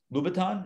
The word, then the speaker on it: Louboutin: try on what's an expensive pair of shoes louboutin is that a did i get that right